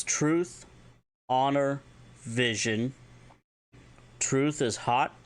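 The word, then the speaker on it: haat: If you want to say the words truth, honor, vision, truth is hot, spelled H-A-A-T, honor, ija, spelled I-J-A-A, and vision, ha'it, which is H-A-A, beten, or apostrophe, I-T.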